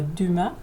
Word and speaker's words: Dumas: Então tá aqui o Alexandre Dumas, a pronúncia em francês seria Dumas, mas a gente é portuguesa, não tem problema.